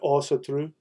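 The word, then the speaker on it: Ásatrú: turned them into oh just like ones people pronounce Asatru they they actually pronounce it also true so it has an O sound to it so Sowell means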